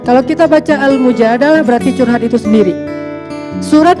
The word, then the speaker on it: Al-Mujadalah: Kalau Al-Mujadilah, perempuan yang curhat. Kalau Al-Mujadalah, curhat. Jadi tergantung kita bacanya dilah atau dalah. Kalau kita baca Mujadilah, berarti perempuan yang lagi curhat. Kalau kita baca Al-Mujadalah, berarti curhat itu sendiri.